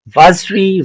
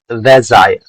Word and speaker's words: Vazire: Uh, Vazri, no, it is Vazire. Vazire, okay? Vazire. Correct pronunciation is Vazire.